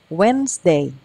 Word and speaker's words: Wednesday: Monday Tuesday tu nah ini d-nya silent ya d-nya tidak disebutin jadi wedesday wesday Wednesday Thursday Thursday Friday Friday